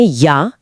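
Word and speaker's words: ja: यस के लिए कहते हैं या या यहां जे का उच्चारण इंग्लिश के वाई जैसा होता है। तो जा नहीं या या और नो के लिए कहते हैं नाइन।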